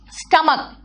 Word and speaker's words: stomach: See, stomach. Stomach doesn't take es, it takes only s because the pronunciation is not ch, it is ka.